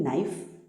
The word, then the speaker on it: knife: भी आ सकता है, तो इस के को साइलेंट रखना है। जैसे कि KNOW, इट इज़ नो, KNOT नॉट, KNIFE नाइफ एंड KNOCK knock.